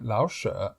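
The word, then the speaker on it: 老舍: Pero en este caso no se pronuncia con el cuarto tono, sino con el tercero, Lao She.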